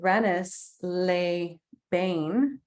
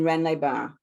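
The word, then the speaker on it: Rennes-les-Bains: le chateau nearby in renis lay bain am i pronouncing that right sophia no but it's okay please correct it so it's render chateau and renlai ba brendaban okay yeah i have absolutely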